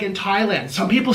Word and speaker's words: Thailand: We don't pronounce the H in Thailand.